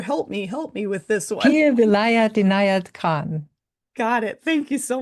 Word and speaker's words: Pir Vilayat Inayat Khan: They both studied intensively for over 4 decades and now represent, I'm hoping I pronounce this right, Sufi master Pierre Perville. Pir, Here, help me with this one. Pir Vilayat Inayat Khan.